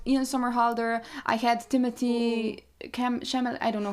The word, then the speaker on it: Chalamet: I had Timothy Chalamet. I don't know how to pronounce his surname.